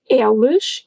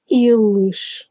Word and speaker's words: eles: And watch out for the first E in eles, as I just mentioned. It's not eles, it's eles.